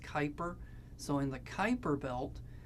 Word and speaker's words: Kuiper: I know it looks like Cooper but it's pronounced Kuiper so in the Kuiper belt you're going to